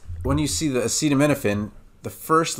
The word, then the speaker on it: acetaminophen: or milk and then it's not no fin it's nothing so as in Canon or a cannon so there's Canon like the thing that ex shoots out shells and then there's a cannon like Canon and D from Paco bill and then Finn p-h-e-n part of hyphen okay so acetam when